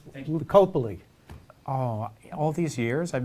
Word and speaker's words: Lipicoli: And it's Lipicoli. Oh, all these years I've been pronouncing it wrong?